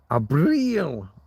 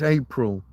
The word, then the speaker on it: Abril: Abril. You got to get the eel. Don't just say Abril. Don't just say it like it's April, but with a B.